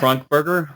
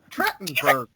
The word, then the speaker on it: Trachtenberg: Michelle Trunkburger? What's a Trunkburger? Trachtenberg. What's wrong with you? Trachtenberg. Hey, I can pronounce Nim, but I can't pronounce actors or actresses' names very well.